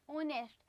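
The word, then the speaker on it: honest: पर जो इसका साउंड आता है ना, आप ध्यान से पढ़िए, आवर आता है, ये आवर, ऑनेस्ट। जो एच होता है ना वो साइलेंट होता है इन दोनों वर्ड्स में।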